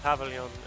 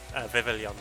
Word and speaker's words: Vivillon: My favorite pavilion is Vivillon, not Pavilion.